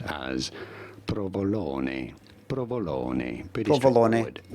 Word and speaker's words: provolone: We are looking at how to pronounce with the typical Italian pronunciation the name of this delicious Italian cheese.